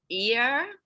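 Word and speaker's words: Yerres: can help me out i believe the town is pronounced ear about 12 miles south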